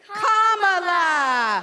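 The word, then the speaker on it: Kamala: do you pronounce it first you say comma like a comma in a sentence Dan he say la like la la la la la put it together and it's one 2 three commala all right so let's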